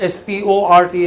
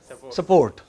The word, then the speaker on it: sport: people support support yeah they don't pronounce s p o r t as sport they pronounce it as support okay so there you